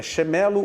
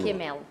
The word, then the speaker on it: Quemelo: do teu sobrenome, Adriana, é Chemelo ou Quemelo? Quemelo. Quemelo. Isso.